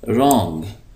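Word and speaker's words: wrong: अहम स्ट्रांग स्ट्रांग मजबूत रंग य जो डब्लू है य साइलेंट है इस पढ़ेंगे रंग गलत लंग लंबा ब्यूटीफुल ब्यूटीफुल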